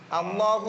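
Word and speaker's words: الله: ലളാം എന്ന സ്വഭാവത്തിലേക്ക് മാറുന്നില്ല ലാം അള്ളാഹു എന്ന് പറയുന്ന സമയത്തും ലില്ലാഹി എന്ന് പറയുന്ന സമയത്ത് ലാമിന് കനമുണ്ട് ലാമിന്റെ കനം മാറുന്നില്ല പക്ഷേ ആകർ എന്ന് വരുന്നതുകൊണ്ട്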